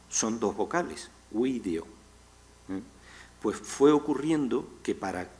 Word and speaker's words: video: avanzando el latín, lógicamente una palabra como video, que tendría, con la pronunciación clásica, tendría 1, 2, 3 y 4 sílabas, tiene sus dos primeras sílabas, son dos vocales, video.